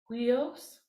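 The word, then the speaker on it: υἱός: It stands for Jesus, Christos, Theo, Huios. That's a upsilon, but it has a rough breathing. The word for son is Huios.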